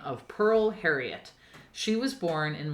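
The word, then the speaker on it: Pyrl: Pearl's first name is spelled differently it's pronounced Pearl but it's p y r l s okay l e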